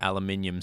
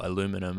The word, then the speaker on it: aluminium: that that gap between the aluminium strip or aluminum as the Americans say it's kind of nasty